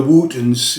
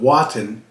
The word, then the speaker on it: Wotton: And they probably pronounced it Wooten, but when people read it, they probably called it Wotton.